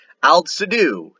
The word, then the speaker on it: Aldsidu: Aldsidu is how you say this in Old Saxon.